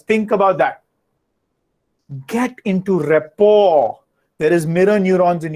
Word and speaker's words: rapport: lack of rapport r-a-p-p-o-r rapport r-a-p-p-o-r is ort is rapport you don't pronounce the last t because it's a french word rapport and just for